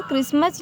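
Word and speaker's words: Christmas: और इसे लिसन, हाँ, और यहाँ पे देखें क्रिसमस, यहाँ भी टी जो है साइलेंट है, विसल पड़ जाएगा, यहाँ पे भी टी जो है साइलेंट है।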